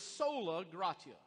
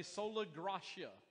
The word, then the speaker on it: sola gratia: all of this is sola gratia or if you if you like the uh if you want to pronounce it a different way sola gracia but we're going to go with sola gratia that really flies in